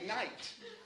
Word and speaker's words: knight: It's not spelled pronounced kigot even though it's spelled kigot. we say night, right?